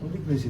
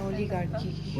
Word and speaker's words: oligarchy: ओलिग्रेसी तुमने लिखा है सर है ये जो ना जो नहीं तुम प्रोनाउंस गलती कर रहे हो सर कैसे प्रोनाउंस करते हैं? ओलिगार्की ओलिगार्की है ना ये Oligarchy.